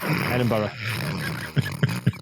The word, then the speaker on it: Edinburgh: And find out how to pronounce Edinburgh. So there we go. Edinburgh.